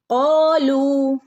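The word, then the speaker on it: قالوا: ഇതിന്റെ തജ്വീദും ഒന്ന് നോക്കാം കാലു ഇവിടെ കാലു വാവ് മദ് ഉണ്ട് രണ്ട് ഹറക്കത്ത് നീട്ടി ഓതണം ട്ടോ കാലു ഇവിടെ അലിഫിന്റെ മുകളിൽ സുക്കൂന് വന്നാൽ നമ്മൾ ഇവിടെ പ്രത്യേകിച്ച് ഒരു ശബ്ദം കൊടുക്കുന്നില്ല അപ്പൊ നമ്മൾ അതിനെ അതിന് ഒരു ഉച്ചാരണം ഇല്ലാട്ടോ ഓക്കേ കാലു സുബ്ഹാന ബിന്റെ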